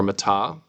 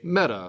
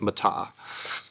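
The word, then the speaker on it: μετά: All right, here we have another preposition, meta, or meta, if you want to pronounce it correctly. In English, we'd say meta, metamorphosis, but in Greek, it's meta.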